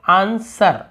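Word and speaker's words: answer: यहाँ पे हम कैसे पढ़ते हैं, आंसर, आंसर, कभी आपने आंसर बोले क्या, नहीं, ये केवल आंसर, आंसर यानी होता है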